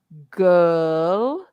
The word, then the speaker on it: girl: go uh uh and that that sound is in h it's in her not his but her and it's also in girl girl g i r l and it's also in world around the world so